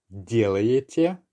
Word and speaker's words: делаете: Pay attention to the pronunciation. We're not really making the ye sound, the penultimate ye sound, that clear. It merges and just becomes more of a y sound.